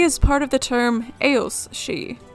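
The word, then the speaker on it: aos sí: mounds and because it's uh Celtic languages she is spelled s i d h e alternatively she is part of the term AOS she spelled a o SS I and it's a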